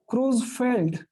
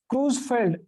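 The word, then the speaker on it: Creutzfeldt: तो दोस्तों ह्यूमन में है जिसका नाम है CRJ दिया है, और उसका ओरिजिनल नाम है cruise, T silent here, क्रूजफेल्ड, again T silent here, क्रूजफेल्ड Jacob, ये साइंटिस्ट का नाम है।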